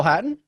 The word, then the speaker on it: Hatton: I want to say Hatton, but I just want you to pronounce that last name for me one more time, Greg. Eric. Terrell Hatton?